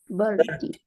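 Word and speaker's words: vṛddhi: And the way you pronounce this word is verdi, verdi. Everybody say verdi. Verdi.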